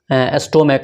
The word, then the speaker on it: stomach: जैसे है कि मोनार्क, स्टोमक, STOMACH, अंत में CH है लेकिन इसका साउंड क्या आ रहा है, क, स्टोमेक, क, ठीक है।